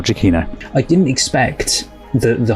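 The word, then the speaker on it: Giacchino: But first, I just want to apologize that I actually mispronounce Michael's name, the director. It's Michael Chainino instead of what I say. So, apologies. I've already recorded all of this, but it's actually Michael Chino.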